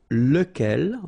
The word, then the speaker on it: lequel: be, as we saw, lequel. Okay, so remember, you've got to pronounce it lequel, even if you've got this QU. Okay, remember that this U phonetically doesn't exist, so lequel.